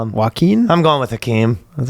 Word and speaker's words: Joaquin: Joaquin? I'm going with Hakeem. That's like a Joaquin? Joaquin. Not Hakeem. It's like Joaquin. Joaquin.